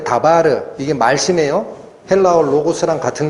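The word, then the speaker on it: דבר: 이 말씀이 다바르라고 읽히는 단어입니다. 헬라어에서는 노고스인데 히브리어에서는 다바르라고 읽히는 게 말씀이에요.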